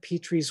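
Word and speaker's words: Pitre: spelled like jeremias is brent petrie's work p-i-t-r-e i highly recommend it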